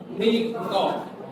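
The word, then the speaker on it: punika: tetapi membacanya mewi kemudian ada tulisan puniko membacanya meniko itu diadikan satu Kom satu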